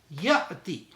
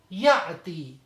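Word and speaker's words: يأتي: Ya'ti. Ya'ti. There should be little bit jerk when we are pronouncing.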